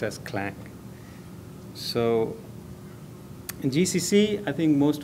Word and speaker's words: Clang: and a a lot of people call it si lang but actually it is pronounced as Clank so GCC I think most of us we